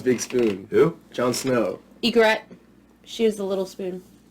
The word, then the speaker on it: Ygritte: Ygritte, she was the little spoon. Oh. Her name's John and Ygritte. Ygritte. Like the bird.